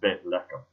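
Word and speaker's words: בית לחם: In Hebrew, the word is pronounced Bethlehem. Bethlehem. Beth, the first word, B-E-T-H. Lechem, the last part of it, L-E-H-E-M.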